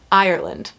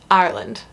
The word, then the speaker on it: Ireland: Most Americans pronounce it Ireland. Ireland. 3 syllables. That's wrong. I can't really do a good demonstration of how you say it, but it's like Ireland.